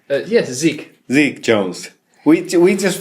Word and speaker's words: Zeke: Zeke how do you say your name yes Zeke Zeke Jones we we just found out that